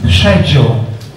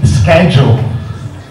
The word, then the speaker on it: schedule: pronunciation of schedule, it's in the UK it's schedule, but in the United States it's actually schedule.